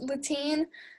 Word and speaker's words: Latine: I've seen it pronounced Latine. That doesn't sound any different to me than how you would say the dead language in Spanish.